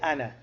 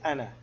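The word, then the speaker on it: أنا: the Aleph we say Ana we don't say Ana and we say Ana ah nah so the Aleph is not pronounced if to mail or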